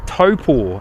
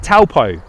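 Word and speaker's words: Taupō: Somewhere near Taupo, if you're going to pronounce it correctly, eh Telly? Somewhere near Taupo. Or as English people would say it, Taupo.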